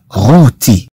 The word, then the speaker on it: rôti: إذن طبعا هاد أو تنطق مثل أو الأخرى، فقط أنها تضاف لها هاد الأكسون بهذا الشكل حتى لا يقع هناك خلط. لغوتي le rôti. Le rôti comprend à la fois E et R.